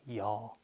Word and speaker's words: 요: No, 이거요, that one, 저거요, like 요, right? So 어떤 거요? Like that. But people don't really pronounce like 요. You might hear this 여.